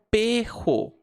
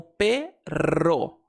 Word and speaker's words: perro: Por exemplo, em espanhol existe essa palavra aqui e muita gente vai pronunciar como perro, mas na verdade uma pronúncia mais comum é fazer o R vibrante como perro.